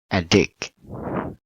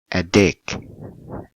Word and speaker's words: addict: one verb or noun addict is a verb so we put on the second syllable a dick a dick okay addiction so ah